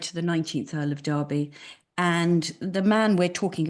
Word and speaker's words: Derby: went over to the Kentucky Derby, which is how you folks pronounce it, but our family in England call it Derby, that's our name.